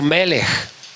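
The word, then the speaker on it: מלך: El primero es el vocablo melej con J al final. Melej, que significa rey y Sadec, que significa justicia.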